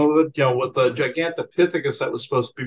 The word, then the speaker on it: Gigantopithecus: There was one called Gigantuous, something. I don't think I'm pronouncing this properly. Gigantopithecus. Oh, Gigantopithecus. Yeah, Gigantopithecus is how you pronounce yeah, that.